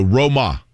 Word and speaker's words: Grosjean: those that are curious here's how you say his name you ready uh what do you do to a boat blank blank blank your boat either one of you guys row it thank you ro okay um what does